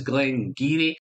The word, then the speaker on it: Glen Garioch: H it's spelled Glen Glen Gario but it's pronounced as Glen giri as the channel folks it's been one of